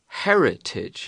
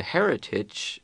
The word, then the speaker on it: heritage: will inherit is a Heritage right so the Heritage what you get is pronounced with an H the person who gets